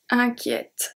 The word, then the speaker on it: inquiète: And here the E before the T is going to turn into a E accent grave. Inquiet, inquiète. Because if we didn't have a accent grave, the pronunciation will stay as a E, because it's not followed by 2 consonants.